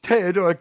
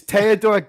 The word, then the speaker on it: Theodor: guy's name is pronounced Theodor gel it sounds funny if you're American it's teodor G gel because in in European you go with the uh second vow right so Admiral